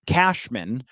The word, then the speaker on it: Cashman: His name is pronounced Cashman.